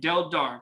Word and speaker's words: Deldar: Mike Deldar, and I'm saying I pronounced that right, Deldar, correct? Exactly the way you write it, you pronounce it, yes.